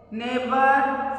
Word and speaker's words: neighbor: Neighbor, second one, neighbor, daughter, fight, straight. इन सबके अंदर G है, साइलेंट वर्ड है.